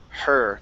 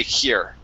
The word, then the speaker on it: her: So, from here on out, okay, before you read, I want you to think in your head, okay, her, nice and light with that H.